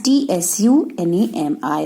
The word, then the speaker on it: tsunami: Indian Ocean, that was tsunami. On number 6, in tsunami, T is silent. So, this is T-S-U-N-A-M-I, tsunami.